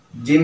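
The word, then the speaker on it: ج: Jim ini kalau di alfabet Indonesia lebih condong ke huruf J ya. Nah, dan jim ini merupakan qalqalah. Jadi harus ada pantulan ya, ada disisakan ya.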